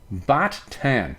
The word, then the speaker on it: Baht Tan: Baht Tan. There you go. B A H T Tan, not B H A T, the Thai currency.